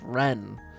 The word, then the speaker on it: Ren: We found out last time it's pronounced Ren.